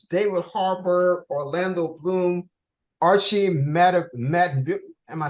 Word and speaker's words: Madekwe: David Harbour, Orlando Bloom, Archie Madekwe. Am I saying it right? Madekwe.